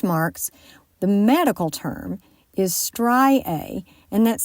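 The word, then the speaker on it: striae: them well stretch marks the medical term is stri a and that's spelled s t r i a e well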